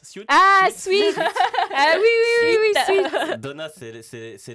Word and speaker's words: Suits: Alors, comment on prononce Suits? Ah, Sweet.